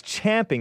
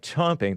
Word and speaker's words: champing: People say it's champing at the bit. Maybe my mother said it the British way, which sounds like chomping. Thank you, Anchor Baby. You know how the Brits say chomping because their champ sounds like chomp.